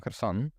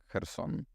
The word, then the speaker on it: Kherson: Because I guess the Kherson, the spelling right would be with a K somehow, but I would never pronounce it as Kherson. Yeah, it is. I think it's just to make sure that folks don't completely ignore the H at the beginning. So that's why K was added in there.